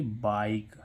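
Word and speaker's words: bike: आई का उच्चारण यानी कि इस आई का उच्चारण क्या होता आई जैसे बी आई के ई तो इसको क्या पढ़ेंगे बाइक क्या पढ़ेंगे बाइक यानी कि आई ध्वनि निकल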